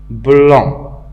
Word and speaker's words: blanc: Blanc, il se termine par C. Le C est écrit, mais il n'est pas prononcé. On ne dit pas blanc, on dit blanc.